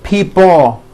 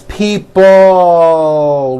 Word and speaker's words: people: this last word people it's not pronounced people with your tongue not moving it's people with your tongue slowly moving up and your jaw remaining down stretch out that l sound people like that here are some sentences